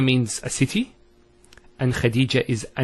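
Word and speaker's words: خديجة: Here the word is Medina and Khadija. Notice one thing, I didn't mention the ta. I actually pronounced the ta marbuta as a ha. Medina, Khadija.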